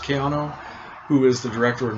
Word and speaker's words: Caiano: with the director of mario caiano how is pronounced kiano who is the director of nightmare castle and